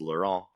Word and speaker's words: Laurent: and the French pronunciation is Laurent.